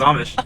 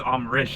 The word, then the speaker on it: Amrish: I thought his name was Amish, and then my boss was like, oh no, his name is Amrish.